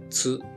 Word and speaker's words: つ: This is tsu or tsu. You pronounce this as tsu. The T sound is very soft, like in tsunami.